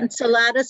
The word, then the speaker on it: Enceladus: And I don't know how to pronounce this word, Enceladus. Yes. Enceladus.